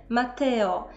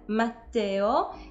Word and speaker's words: Matteo: się z imieniem Matteo i nie Włochów częstym problemem jest wymawianie tego imienia jakby tam było jedno te i wtedy słyszymy Matteo natomiast mamy dwa ty które powinny być zaznaczone dlatego mamy Matteo i jest to rzecz